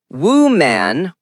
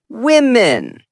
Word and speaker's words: women: Wrong is woman or woman. Correct is women. Example, there are a lot of women in the team. Singular is woman. Plural is women. Distinct sounds.